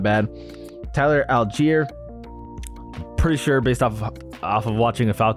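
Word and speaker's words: Allgeier: but yeah Antonio gaps is not bad Tyler algier pretty sure based off of off of watching a Falcons game um and how that name's pronounced it is Tyler algier uh anyway he doesn't look great but he's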